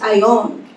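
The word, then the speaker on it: αἰών: a Bible dictionary age Greek word Strong's gee 165 is pronounced I own and it is the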